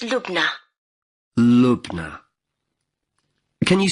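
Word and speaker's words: Lubna: can I have your first name yes it's look now look now can you spell that for me L u b na and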